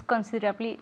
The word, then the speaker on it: considerably: So my hair is considerably longer than your hair.